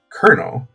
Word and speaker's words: colonel: And then in the end, the English kept the original spelling, because briefly it had been actually spelled with a R, but they kept the original spelling in the French pronunciation. So that's how we got the word colonel, that we spell as Colonel.